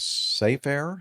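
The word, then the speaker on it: Safair: Uh, an incident of Safe Air, I guess that's the way you pronounce it. S A F A I R.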